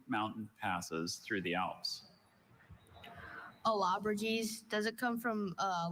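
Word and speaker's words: Allobroges: Alabraes.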